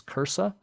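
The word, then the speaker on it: CRRSAA: supplemental approach appropriations act the consensus seems to be that we pronounce this as cursa and it provides almost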